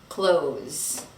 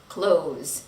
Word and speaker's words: clothes: Close, close. Don't say the TH sound.